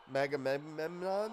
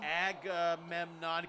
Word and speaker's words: Agamemnon: Is that how you say it? Agamemnon? Megamemnon? Agamemnon. Clothesline, chains again.